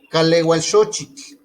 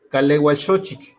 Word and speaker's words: Kalewalxochitl: Lo que yo les decía es que aquí se pronuncia como kaleualxochitl. Si ustedes pueden pronunciar, pueden decirlo así. Calehualxochitl, es junto.